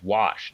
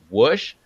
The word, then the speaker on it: wash: just drive me nuts because it's wash wasa CH wash but like the one guy worked with he'd be like woosh you got a wish